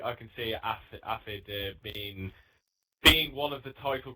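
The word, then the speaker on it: Aphid: But yeah, all I can say is the newcomer, Afid F1. If I've said his name Acid or right. acid? Acid. Afid. Acid. A-P-H-I-D. Yeah. Yeah. Yeah, not acid, Michael.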